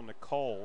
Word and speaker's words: Nickel: So they are pronouncing it Kyle Nicole, so we will do the same here.